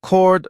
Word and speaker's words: chord: 영어 에서 "chord" 라는 단어는 "chord" 로 발음 됩니다 . "H" 는 묵음 입니다 .